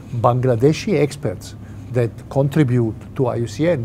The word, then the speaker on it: IUCN: experts that contribute to iucn this is the right way to say it it is not iucm that is here it